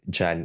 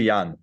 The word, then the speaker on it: Jan: months ago I just yeah I I thought Jen is it Jen or Yan it's yeah it's it's actually Yan yeah it's pronounced Yan yeah Yan yeah yeah it was like yeah